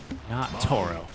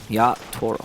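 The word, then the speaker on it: Yatoro: sorry when I say when I say on the first syllable I just the T naturally sounds American so I do apologize it should be a stronger team yach Toro yeah yach Toro yeah it's hard right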